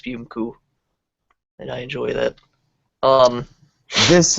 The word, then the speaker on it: Spumco: So the name of his country, which looks like it says Spumco, is actually pronounced Spumku.